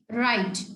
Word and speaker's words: write: The next one is right. WRITE. Right. So we don't pronounce it like right. We pronounce it like right. We take start from R.